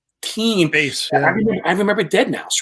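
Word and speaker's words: deadmau5: guys ought to book this guy, Dead Mao 5." Right? Yeah, we didn't know how to say the name back then.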